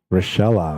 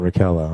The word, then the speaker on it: Rochella: But yeah, so Rochella says watching down here in San Antonio, Texas, pronounced like Michelle but with an R and the A at the end and passed.